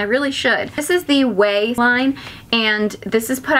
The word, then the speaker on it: Ouai: It's spelled funny, but it's pronounced Way.